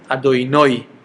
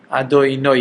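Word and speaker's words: אֲדֹנָי: But the name of Hashem, they say Adoinoi. Okay, with the emphasis on the nun at the end.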